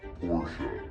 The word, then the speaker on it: Porsche: out hey it's Adam and Jeremy and it's pronounced Porche as you can see this car behind us